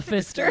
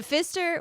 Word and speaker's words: Pfister: Because it's called the Pfister. Yeah. It's spelled P-F-I-S-T. Okay, so not a fist. Right. But still, it's an interesting name. Yeah. The Pfister was built, so it's